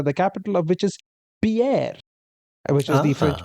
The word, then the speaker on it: Pierre: But yes, so the answer is South Dakota, the capital of which is Pierre, which is the French Ah.